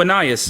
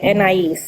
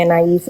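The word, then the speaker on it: Anaïs: So Ananias, is that how you say it, Ananias? Yeah, Anais. Anais. Okay. I'm gonna just call you. Is it okay? No, could you call me Anais or Anise?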